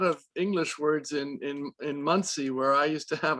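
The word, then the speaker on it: Monsey: brooklyn you know you got a store in muncie month indiana no it's spell it's actually spelled m-o-n-s-e-y oh monsig okay muncie we say muncie but well that's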